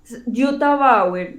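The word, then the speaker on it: Jutta Bauer: nombre de la autora yota bauer se escribe como j dt a y power como suena con be larga bauer ok ok entonces este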